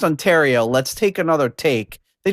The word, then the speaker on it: Ontario: Nobody was like, "Nah, you know, buddy, uh, it's pronounced Ontario.